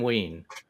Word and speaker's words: Wein: And but Len Wein, is it pronounced Wein? Yeah, I'm pretty sure it's Len Wein.